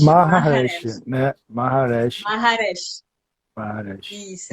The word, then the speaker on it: Maharesh: Aí é Maharesh, Maharesh, Maharesh, né? Maharesh, Maharesh. Maharesh. Isso, é Maha é dificilzinho de grande, né?